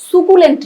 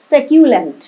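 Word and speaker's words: succulent: স্যাকিউলেন্ট উচ্চারণটা কিন্তু সুকুলেন্ট না, স্যাকিউলেন্ট, স্যাকিউলেন্ট।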